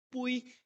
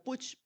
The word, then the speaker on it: Puig: Y es interesante porque hay un autor, creo que es español, Puig, yo no sé si es catalán, así no puedo pronunciar Puig, sino que Puig, creo que Sergio Puig,